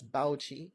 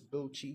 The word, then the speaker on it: Bauchi: And then they don't pronounce this as Bauchi, rather they pronounce it as Bochi.